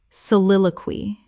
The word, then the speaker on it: soliloquy: Soliloquy. Four syllables with the stress on the second.